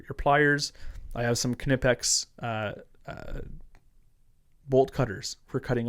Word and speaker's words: Knipex: It's actually Knipex and I'll tell you why. Back when I said it was Knipex. No, no, I know. So back I know I there's a lot of guys who'll be like it's Nipex. It is not and I'll tell you why. This is why you're wrong. This is funny. So back when I did tool stuff uh there's so many people that said it's Nipex and the family that